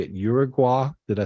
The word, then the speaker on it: Uruguay: Uruguay? Did I say it right? Uruguay.